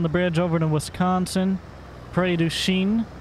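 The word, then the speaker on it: Prairie du Chien: bridge over to Wisconsin pray do Shean I believe in the name of the town is how you pronounce it anyways and we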